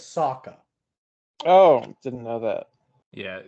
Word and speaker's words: Sokka: It's Sokka. Oh, didn't know that. Yeah, I don't. They found a way to mispronounce basically every name.